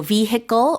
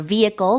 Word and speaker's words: vehicle: It's a noun, and I should point out the H in there can or cannot be pronounced. Both are acceptable pronunciations, so vehicle or vehicle with a silent H.